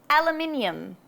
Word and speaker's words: aluminium: And then everybody's favorite, aluminium.